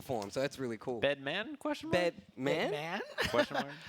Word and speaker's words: Bedman?: You have to say it every time, Jay. Yeah, you got to say it like it's always a question, So when Bedman.